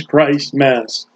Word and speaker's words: Christmas: the birth of Jesus Christ Mass say it right it's not a compound word check the dictionary when